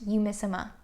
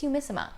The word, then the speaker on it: Umisima: which by the way it is pronounced you miss emma at least i think i'm saying that right a commenter posted a link to where you can hear sandy powell actually say the word and it's umisima and for those of